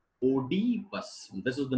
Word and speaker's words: Oedipus: Most of the speakers say Oedipus. This is the name of the king. King Oedipus. Oedipus. So O alphabet has two different pronunciations. O sound and E sound.